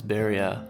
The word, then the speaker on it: Beria: Beria. What was his first name? How do you say it? It's Beria.